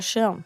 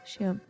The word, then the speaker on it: Schirm: Der Schirm. Schirm. Yeah. SCH makes that noise.